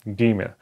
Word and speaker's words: Gimel: It has to be pronounced like G, like in going or go, okay? Gimel.